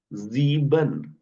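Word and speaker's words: sieben: और जीबन।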